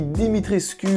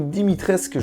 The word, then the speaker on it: Dimitrescu: Je parle bien sûr de Lady Dimitrescu ou Dimitrescu, je crois que le U ne se prononce pas, donc Lady Dimitrescu, qui est le personnage, je pense en ce moment, le plus hype autour du jeu.